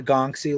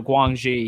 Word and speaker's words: Guangxi: And do you have, are yours like the Gongxi locale ones? The Guangxi, yeah. Guangxi, yeah. Which I used to mispronounce, by the way.